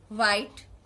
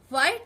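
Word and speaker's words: white: অর্থাৎ right, হোয়াইট, right যখন লিখছি ডাব্লিউ এর উচ্চারণ হচ্ছে না, বিকজ আর আছে। হোয়াইট যখন লিখছি এইচ আছে, তো ডাব্লিউ এর উচ্চারণ হচ্ছে না।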